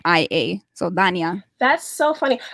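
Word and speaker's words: Dania: it like you spell it ta yna I spell it d8 n IA so Danya that's so funny like my it's actually was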